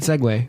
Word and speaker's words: segue: So, good segue. Which is not spelled the way I thought. It's spelled weird. Segway. Not like the Segway.